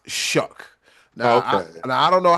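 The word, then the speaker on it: Shough: It looked like shuff or shook or and you know, but it's pronounced shook.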